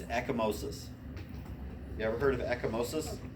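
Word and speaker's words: ecchymosis: the test and you'll see it forever it's eckomosis you ever heard of echomosis no you spell it it's e c c h-y m-o-s-i-s echomosis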